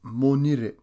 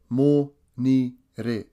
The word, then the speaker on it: Monire: Monday is Monire. Monire. This is spelt M-O-N-I-R-E.